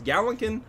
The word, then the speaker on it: Gallankin: 'cause I'm Gallankin. bad at it. The worst part is in my copy I wrote it phonetically. It still can't pronounce it. Gallankin. I wrote gal lawn like your front yawn lawnkin.